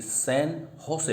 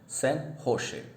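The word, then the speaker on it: San José: अच्छा, निकारागुआ, मैनागुआ और Costa Rica की सैन होसे पढ़ते हैं इसको, इसका प्रोनाउंसिएशन है सैन होसे।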